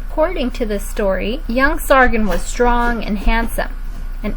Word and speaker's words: Sargon: man's name was sargent let's say his name sargon repeat after me now sargent there are many